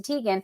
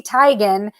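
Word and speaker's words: Teigen: who you're talking about you say Chrissy Tegan but she says it's Chrissy tigan the name is pronounced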